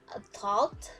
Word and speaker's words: thought: Next, GHT, like thought and tout. So the G and the H is not pronounced clearly. So you just pronounce it with the T.